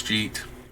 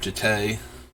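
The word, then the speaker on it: Jitte: Like, I am pretty sure I decided way back when I first saw the card that is Umizawa's Jeet, and that's what it's been ever since, instead of Jite.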